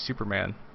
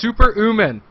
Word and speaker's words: Super Uman: Prodigy, and Super Uman, whose name I will eventually pronounce right all the time, but every time I see his name I just want to say Superman. I want to so bad, but it's Super Uman.